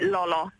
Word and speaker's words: Lala: trovare la soluzione perché si ha scritto l'ala in ungherese ma si legge Lolo e non sapevo come